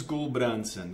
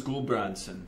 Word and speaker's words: Gulbrandsen: nome completo e gulbransson Gol branco estando uma a o nome norueguês meu o meu avô a era norueguês então meu meu pai pronuncia de uma forma diferente porque o o primeiro